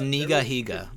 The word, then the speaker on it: Nigahiga: you know I mean it's nigahiga by the way that's that's how you say it it's Hawaiian as a kid he was